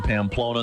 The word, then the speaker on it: Pamplona: you a second guess it rhymes with Lona rhymes with loner it Rhymes we'll give you a hint here but we don't want to pamper you baby the running of the bulls in Pamplona Spain thank you of course